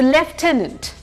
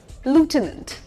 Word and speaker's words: lieutenant: इसकी British pronunciation अलग है और अमेरिकन अलग है। ब्रिटिश में अगर हम पढ़ेंगे तो लेफ्टिनेंट।